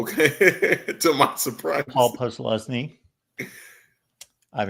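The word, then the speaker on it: Posluszny: Micah Parsons, LeVar Arrington, or Paul Plusnowski, which I'm sure I butchered his name. Not really. You got it. Oh, okay. To my surprise. Paul Plusnowski.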